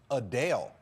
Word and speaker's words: Adele: while many pronounce It Adele as you just heard me say the singer says it's actually pronounced a Dale she noted the correction